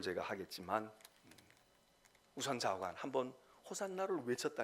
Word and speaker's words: 호산나: 발음 그대로니까 호산나 호산나 우리 말은 되게 액센트가 우리가 없잖아요네 외국어는이 히브리어도 또는이 이스라엘 사람들의 언어도 액센트가 있기 때문에 우리는 그냥 쉽게 하면은 호산나 이렇게 얘기합니다 영어로 말하는 사람들은 중간 음에가 액센트를 주어서 호세나